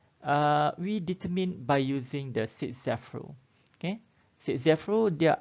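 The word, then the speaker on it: Zaitsev: Okay, so the product form, okay, we determine by using the Sitzeff rule. Okay, Sitzeff rule dia ada dua ejaan.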